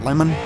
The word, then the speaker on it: Lehman: In seventh, the number 6 of James Lehman. Is that how you say it? Lemon? Okay.